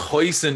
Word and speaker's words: hoisin: like hoisance is that how you spell like pronounce it yeah yeah something like that yeah yeah my mate cards are hoshi and sauce you irish man like it's hoisin and he's like i love that hoshi and